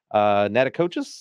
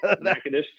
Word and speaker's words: Natchitoches: I believe it's Natachitoches. I don't know how you pronounce that. Natchitoches.